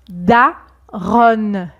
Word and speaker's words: daronne: Et la mère devient, vous pouvez peut-être le deviner, la daronne. La daronne. D'accord? Donc au niveau de la prononciation, c'est pareil que l'adjectif bon au masculin, bon, bon, daron. Et au féminin, bonne, bonne, daronne.